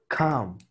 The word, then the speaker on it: come: Come. Come. Come. Come, ¿vale? Come. O sea, sigue siendo A, pero es más O que A.